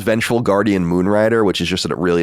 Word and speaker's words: Vengeful Guardian Moonrider: Big, how do you pronounce it? What do you say? It's a Vengeful Guardian Moonrider.